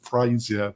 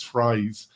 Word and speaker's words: Phrase: I know Phrase. In another podcast, I said Frasier, but it's Phrase.